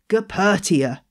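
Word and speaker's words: Goeppertia: Calathea, most of the species in this genus have been moved to another genus called Gepertia. So did you know how to spell that?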